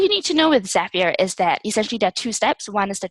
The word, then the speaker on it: Zapier: to you don't you love the zapier is rhymes with happier I like that Oh